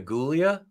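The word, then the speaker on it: Giulia: Drew Barrymore played Julia it's Julia with a G not a j okay she's from New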